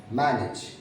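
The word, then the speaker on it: manage: डैमेज, हम generally as को देख के एज पढ़ने लगते हैं, डैमेज, मैनेज, ड्रेनेज। ना, इट्स a wrong. The correct pronunciation of these words are डैमेज, मैनेज, okay, ड्रेनेज।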